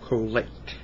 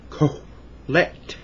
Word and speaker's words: Kohelet: I want to talk to you about the book of Kohelet. The book of Kohelet. Kohelet in Hebrew is Ecclesiastes. And Kohelet is spelled K-O-H-E-L-E-T.